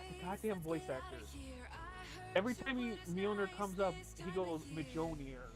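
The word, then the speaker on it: Mjölnir: In fact, the unshielded Mark IV, I think it was, of Majon. God damn it! Fuck. God. Yeah, I know. I've been listening. No, I can pronounce it, Mjolnir, but I've been listening to the audiobooks for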